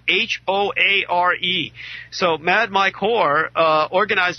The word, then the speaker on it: Hoare: celebrity mercenary Mad Mike Hoare, last name spelled H-O-A-R-E.